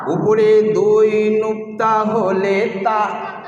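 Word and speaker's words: ت: উপরে দুই নুক্তা হলে তা, জিভের আগা মানে জিভের ডগা, আর উপরে দুই দাঁতের গোড়া, সামনে উপরে সামনের দুই দাঁতের গোড়া, এই জিভটা ওই গোড়ায় লাগাতে হবে, তবেই যে তা উচ্চারণ হবে।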